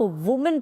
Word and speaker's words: women: तो इसमें पीछे MEN की प्रोनाउंसिएशन नहीं चेंज होती, WO की चेंज हो जाती, तो उसको हम वुमेन नहीं विमेन पढ़ते हैं।